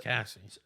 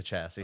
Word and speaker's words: chassis: And, my point is, With so- Cassie. Cassie. The chassis. Oh, the Oh, chassis. chassis. The chassis. Didn't hear that right. My point The is, H is silent.